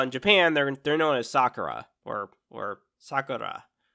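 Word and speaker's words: さくら: Gotta have to pronounce it right. I'm not. If you just pronounce it Sakura, you're speaking in English. But if you pronounce it as Sakura, then that actually literally means you're speaking Japanese.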